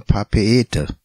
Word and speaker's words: Papeete: So spricht sich die Hauptstadt Papeete auch nicht Papeete, sondern Papeete.